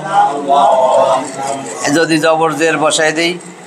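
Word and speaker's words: الله: হা আলিফ লাম হা আলিফ লাম লাম হা আল্লাহ আল্লাহ যদি জবর জের বসায় দেই আল্লাহ এইজন্য কয়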